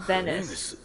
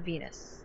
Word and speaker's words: Venat: He calls it Venice. But it's spelled Venat. It's not Venus.